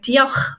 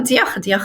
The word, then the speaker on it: diolch: So for example, the ch sound, which I find it really easy to pronounce, it couldn't be the same for someone who's English, for example. Because I am able to pronounce it properly, I feel like I'm connected to this language. So a word like diolch, for example, diolch yn fawr, thank